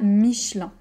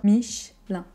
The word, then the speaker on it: Michelin: mitch lun lun 1 comme un peu michelin michelin michelin on peut prononcer parfois michelin si vous préférez mais par exemple chez moi on sera plutôt michelin michelin michelin je travaille chez michelin c'est faux ensuite peut-être que vous ne